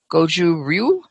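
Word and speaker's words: Gōjū-ryū: and is currently studying goju ryu would you pronounce that that's right it's goes uru you got it the first time i did it my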